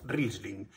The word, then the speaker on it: Riesling: y podemos aprender a identificar, es la uva Riesling. Se escribe Riesling, pero se pronuncia Riesling.